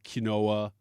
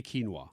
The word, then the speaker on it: quinoa: I think people above us say kinoa or they don't say quinoa.